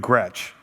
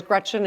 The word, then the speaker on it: Gretch: I'm named after both my grandmas, Gretchen and Esther. Grandma McCretchen always said, "Never let someone call you Gretch. It rhymes with wretch.